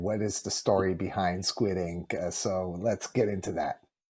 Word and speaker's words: Skwid Ink: Yeah, I mean, for those watching, it's Squid Ink. It's spelled Skwidink.